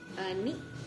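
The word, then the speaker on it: 二: Ni.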